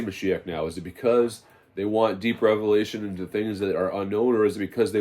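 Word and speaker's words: משיח: They'll say Mashiach now, right? That's how they say it in modern, Moshiach. There's no Elaf and Vav before the Keith. They add all these extra vowels to words. Mashik. So they say Mashiach now, but they don't want Mashiach,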